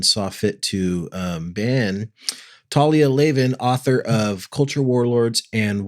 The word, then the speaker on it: Talia Lavin: time before Elon saw fit to um ban Talia Leen author of culture Warlords and wild Faith how